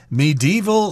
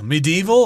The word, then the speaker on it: medieval: there you've got winding medieval streets medieval or medieval sometimes people pronounce it with an extra syllable there that just means